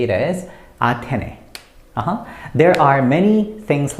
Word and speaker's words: 아테네: You have to say it as Athene.